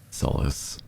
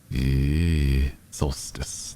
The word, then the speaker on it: solstice: each is about average soless the longest and shorted day of the year Solstice that's the right way for pronouncing pronouncing it sorry I